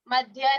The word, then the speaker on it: मध्ये: मध्ये मध्य नहीं है, मध्ये ठीक है।